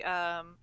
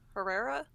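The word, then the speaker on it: Harah: I think you see that too later on when you see Herrera. Hera? How do we want to pronounce? I think it's just Hera.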